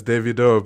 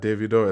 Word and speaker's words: Davido: Americans do call Davido Davido. It's fine. Americans can American. It's fine. Davido. That's what Americans say all the time, but it's Davido. But I understand that it's not easy to say it the Nigerian way, like Davido. It's hard for people to say that phonetically.